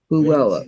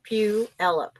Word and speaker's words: Puyallup: The one that's Pullayup or something. Palula, Palu, Pull you up. It's like pull you up. yeah, but I pull it up. Puyallup. Puella. That's the correct pronunciation. Yeah. Yeah. Puyallup.